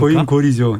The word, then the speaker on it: 고인골: 그래서 이게 발음이 조심을 해야 됩니다. 고인골입니까? 고인골이죠. 인골이죠. 인골. 고인골. 네. 이렇게 읽어야 되는군요.